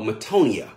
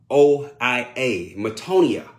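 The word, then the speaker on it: metanoia: So the first word I want you to type in is called metonia. It's a Greek word. It's spelled M-E-T-A-N-O-I-A, metonia.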